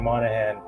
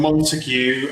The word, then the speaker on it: Monaghan: thank you and and you pronounced my surname really well so thanks for that I've had I've had montue I've had mongan um which wasn't too flattering so yeah it was